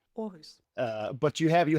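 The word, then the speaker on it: Aarhus: Orus.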